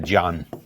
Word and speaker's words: ज्ञान: हम लोग उत्तर भारत में इसको ज्ञान बोलते हैं, उच्चारण गलत है। यह हमारा शब्द है ज्ञान, और इसको हम लोग बोलते हैं ज्ञान, जबकि ज्ञान नहीं होता, यह होता है ज्ञान।